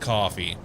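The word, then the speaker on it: Ko-fi: pronounced like coffee.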